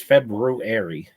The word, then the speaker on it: February: Yeah, and it's February, not February.